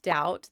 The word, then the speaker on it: doubt: Same thing with doubt. The B came from dubetum.